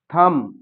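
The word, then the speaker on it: thumb: थंब यहां जो बी ये दे रखा है इसको हम उच्चारण इसका नहीं करेंगे।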